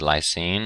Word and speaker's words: lysine: INE, these all have INE on the end, but they're actually pronounced different. This is lysine, and this is arginine and histidine.